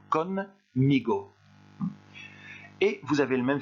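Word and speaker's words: conmigo: Je vous conseille quand vous lisez ce mot-là de faire une petite pause entre le N et le M pour faciliter la prononciation. Con, migo.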